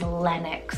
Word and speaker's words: Lennox: Next up for L, my favorite, absolute favorite is Lennox for a girl, L-E-N-N-O-X.